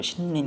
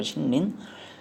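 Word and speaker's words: 森林: 삼림 그래가지고 신린 그런다 신린.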